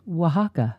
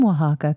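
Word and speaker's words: Oaxaca: from Mexico okay and I think it's pronounced Waka um is that a w well it's o a x a CA Oh Waka is a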